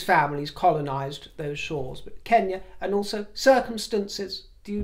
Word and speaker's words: Kenya: noticed as an aside the king pronounces words like Kenya as I do not Kenya as others do including those who whose families colonized those Shores but Kenya and also circumstances do